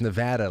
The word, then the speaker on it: Nevada: about the state of Nevada. I used to say Nevada and all that stuff. They said, "No, no, no, Frank. It's Nevada." Like, "Dad, add."